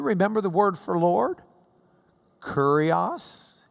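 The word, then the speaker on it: κύριος: Kurios. It killed the cat, remember? Kurios.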